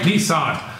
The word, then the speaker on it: Nissan: That's right, Nissan.